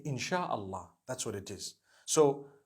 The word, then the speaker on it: insha Allah: inchi means to create no one says inshi Allah they say insha Allah that's what it is